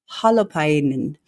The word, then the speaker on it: Holopainen: Hollow is pronounced like hologram. Painen. Because I know you pronounce everything, correct? Someone told me about Finnish. Holopainen is Tuomas's last name.